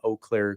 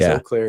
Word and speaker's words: Eau Claire: One thing I know for sure is Eau Claire is not pronounced Eclair.